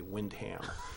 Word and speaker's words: Windham: assistant moderator for windham and that's how they pronounce it they don't say windham they say windham she was at the recount and she said